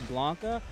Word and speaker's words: Blanka: and the one for Blanca Blanca rhymes with talk up that's how I remember